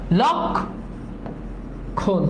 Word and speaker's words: লক্ষণ: বলা যায় না কিন্তু লক্ষণ এটার উচ্চারণ লক্ষণ লকার হবে লক্ষণ লক্ষণ উচ্চারণ কি লক্ষণ না লক্ষণ উচ্চারণ কি লক্ষণ লক্ষণ না লক্ষণ তাহলে দেখো এটাও সিম্পল লক দেখো এখানে যেহেতু থেমে যাচ্ছে এজন্য এখানে একটা হরস চিহ্ন দিবা লক খন ঠিক আছে লক্ষণ লক্ষণ